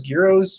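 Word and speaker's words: gyros: no they we pronouncing there's no G it they spell it with the G there's also smells gyro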